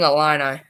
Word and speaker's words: Illini: how you say it fighting illini illini yeah it's close i guess but yeah yeah